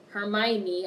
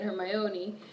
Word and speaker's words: Hermione: especially once Rhonda her Hermione I started to say it again her my Oni we got married he